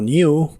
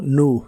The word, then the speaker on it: new: significan un nuevo teléfono la palabra nuevo la puedes prar como New con i o como nu sin I y las letras pH